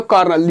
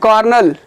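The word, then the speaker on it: Colonel: जिस तरीके से प्रोनाउंसिएशन होता है उसके हिसाब से इसका ये स्पेलिंग नहीं होता है। इसको पढ़ा जाता है लेफ्टिनेंट, लेकिन होता है क्या, ये ल्यूटिनेंट होता है। इसको पढ़ा जाता है कर्नल, इसको कर्नल पढ़ा जाता है, लेकिन ये है क्या, कॉलोनल।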